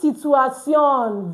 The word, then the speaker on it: situation: It's the same spelling, but what? It's pronounced differently. So yeah, in situation. But it's spelled as situation as it is in English. But the pronunciation is different.